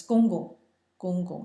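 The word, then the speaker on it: 公公: side, you address as gong gong, and usually it's pronounced twice, but sometimes it's once, gong, and it's in the G-O-N-G in the first tone, gong, and your grandmother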